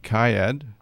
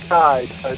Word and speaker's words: Kcaa: We're going to our first guest, Kcaa. Did I pronounce that right? you there? Yeah, I'm here. It's actually Kai.